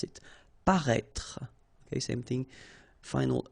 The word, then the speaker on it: paraître: Paraître, okay, so if you remember from the first video, then we had as well this accent circonflexe on the top of I here, but then you don't pronounce it, okay, so you should write it, definitely, because, you know, that's the